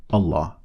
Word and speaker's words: الله: So, Allah, the alif is always lightly pronounced or empty-mouthed, as in ah.